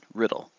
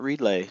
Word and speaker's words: Riddle: That's right, Riddle. Not Relay, not Readla, not, not Riddell. Riddle. Just like it's spelled.